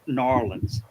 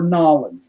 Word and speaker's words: New Orleans: I mean, it shows a lot of the landmarks of New Orleans.